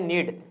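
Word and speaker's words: knead: घुटने को कहते हैं नीड क्या कहते हैं इसमें के साइलेंट होता है दोस्तों पढ़ने क्या है इसको हम नीड पढ़ने हैं स्पेलिंग इसकी यही होगी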